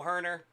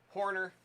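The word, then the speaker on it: Hoerner: your alley but that Nico herner Horner as I should say especially after getting the proper pronunciation from a Cubby's fan some really good stuff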